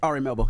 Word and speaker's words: Ari Melber: he sat down he had a conversation with Ari melbour am I saying it right Ari melber yeah Ari melber uh during Miami art week